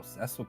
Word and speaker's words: Cecil: I didn't know that, you know, Ceil could be even pronounced Cecil until Invincible. Really, I am dead ass. Cuz like for me it was the opposite. I had never heard it pronounced Ceil until I played the 3D remake of this game.